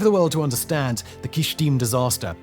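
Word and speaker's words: Kyshtym: Oh, Kishtim, that's how you say it.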